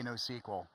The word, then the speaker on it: NoSQL: specifically for NoSQL, I say NoSQL.